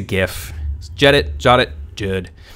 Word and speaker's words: GIF: a gif and yes the pronunciation is gif i don't care if the creator said it's jif it's a gif jet it shot it